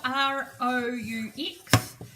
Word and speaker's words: roux: This is called a roux. It's spelled R-O-U-X.